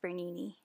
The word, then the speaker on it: Bernini: Or just Bernini. It rhymes with panini.